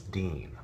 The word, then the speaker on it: Dean: how is your name pronounced your character's name pronounced Jensen is it D an and Jensen will have to say no it's Dean so in order to possibly simplify things and